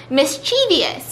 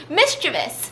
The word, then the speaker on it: mischievous: chevy mr vias this is pronounced wrong and i thought you were gonna pronounce it the way everybody pronounces it incorrectly which is mischievous which is not how you pronounce it apparently it's mischievous and i'm pretty sure i've pronounced it mischievous a bunch of times too but it's mischievous mistress this you're